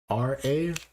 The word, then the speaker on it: Khara: Studio Kara, I believe I'm pronouncing that right. It's Khara.